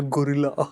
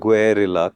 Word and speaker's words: Guerrilla: you pronounce that name I want to call it the gorilla it's the gorilla it will be the gorilla whether you want to or not that is where it is headed I've already heard it be called gorilla twice already it's look it is difficult to pronounce that word and to say guilla carefully every single time remembering there are two hours in there and two L's in there I don't think we